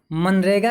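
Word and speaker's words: MGNREGA: यहाँ पर एक बात ध्यान देने वाली है कि हम इसे हिंदी में तो पढ़ते हैं मनरेगा, लेकिन इंग्लिश में इसकी स्पेलिंग थोड़ी सी अलग है। MGNREG है, जिसमें जो पहला वाला जी है वो साइलेंट है।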